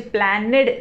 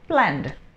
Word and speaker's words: planned: लेकिन प्रोनाउंसिएशन यहाँ पर अब ड का आएगा सिर्फ, तो मुझे प्लैनेड नहीं बोलना है, सिर्फ बोलना है प्लैंड, ठीक है।